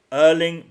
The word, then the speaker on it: Erling: And I also want to say that uh how we pronounce Aling is this is how we say it in Norwegian. Say it again. Say it again. Hling brav.